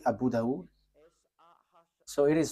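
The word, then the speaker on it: Abu Dawud: So in that hadith there are few books and in these books there is a writer uh Sah Abu Dau. So it is spelled s a h i h s a h i h.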